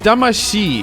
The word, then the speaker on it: Damacy: But when you put it after another word, often the T is softened to a D. It's a euphonic change. Damacy. It's not Damacy. They spell it with a CY, but that's not really gonna make you pronounce it close to correctly. Think of it as ending with SHII.